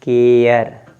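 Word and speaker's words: care: silent होगा कैसे देखिए यहां लिखा है सी ए आर ई तो आप इसको पढ़ेंगे केयर अब इसको कारे पढ़ना चाहिए क्या पढ़ना चाहिए कारे लेकिन य कारे नहीं है इसको पढ़ेंगे सी ए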